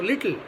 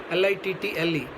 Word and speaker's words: little: Just like we have other words also, little, L-I-T-T-L-E. We don't say little. Okay, so it's little, it's apple, it's communication, like that. Whenever two consonants come immediately one after the other, one is pronounced and one will be silent.